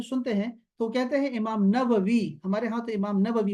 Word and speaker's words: نووی: ہیں تو کہتے ہیں امام نووی، ہمارے ہاں تو امام نووی مشہور ہے، لیکن دوسرا تلفظ اس کا ہے امام نواوی، نواوی بھی کہتے ہیں عرب لوگ اس کو، نواوی۔ تو امام نووی جو